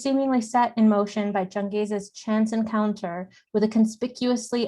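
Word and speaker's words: Changez: protagonist name from urdu c-h-a-n-g-e-z could very well be read to sound like changes many of which changes experiences as the narrative proceeds moreover this particular name could also be pronounced in south asian vernaculars besides urdu as jingas or jengas or as most english speakers know it genghis as in khan changes nominal connection to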